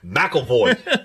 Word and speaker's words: McAvoy: McAvoy? McAvoy.